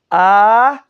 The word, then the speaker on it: Aholiav: When you see a kamatz with the two dots, it's equivalent to an O. Aholiav.